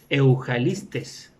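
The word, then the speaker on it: εὐαγγελιστής: evangelista es la 2099, que se pronuncia Eujalistes.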